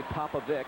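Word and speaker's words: Popovic: Coach Don papaik and I say papaik because that is how he has asked us to pronounce his name here's Hunter with a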